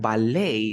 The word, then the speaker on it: ballet: T then we have ballet that he is not pronounced and remember that I